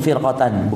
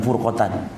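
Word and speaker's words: فرقة: Bacanya itu firqatan, bukan furqatan.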